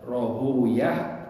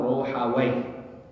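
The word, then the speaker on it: Rāhawayh: Nah, menurut al-Imam Ishaq bin Ruhawayh, ya, Ruhawayh itu bisa dibaca dua, ya, Rohuyah atau Rohawayh. Kalau di sini Rohuyah. Kebanyakan ulama al-hadis membacanya Rohuyah. Kenapa? Karena Wayhim itu nama syaitan atau nama iblis. Ya, sehingga mereka tidak suka untuk menyebutkannya. Mereka maka memanggilnya dengan Ishaq Rohuyah. Karena kalau disebut Ishaq bin Rohawayh, Wayh itu nama iblis.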